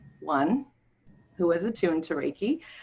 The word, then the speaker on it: Reiki: And Debbie, you are what's called a Reiki master.